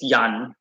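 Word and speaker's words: Jan: english is ian okay in dutch ian is yan but they simply replace the i with the j so yan is a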